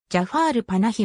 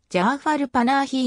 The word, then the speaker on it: جعفر پناهی: ジャファールパナヒはイランの映画監督なおペルシア語ではジャファルパナヒいいに近い発音となりファの後を伸ばすことはないテヘランで映画製作